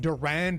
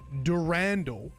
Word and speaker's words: Durandal: Anyway, got some not nice feedback about how I said Durand in the last video. And this ended up being a massive rabbit hole that I spent like over an hour talking about on stream. Actually, Bungie themselves pronounce it Durandal in their Marathon Forge tutorial video that had been uploaded to YouTube.